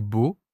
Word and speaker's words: beau: Même chose avec beau, o, o, o. À l'écrit, tout change. À l'oral, tout sonne pareil.